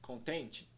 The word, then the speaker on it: content: Primeira palavra, pessoal, content. Nós temos na primeira sílaba o som de O curva, que soa como O. Pronúncia da primeira sílaba é então con. Na segunda sílaba, nós vemos o som E curva, que soa como E. Pronúncia da segunda sílaba é então tent.